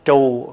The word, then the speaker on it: chùa: Thưa đại chúng, trước hết nói chữ chùa. Chữ chùa là mình nói trại. Đúng ra mình phải phát âm là trù. Bởi vì chữ trù á là tượng trưng cho cái bếp.